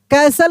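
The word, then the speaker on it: castle: कैसल यहां पे T silent है।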